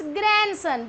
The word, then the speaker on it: grandson: It's grandson because D is silent here.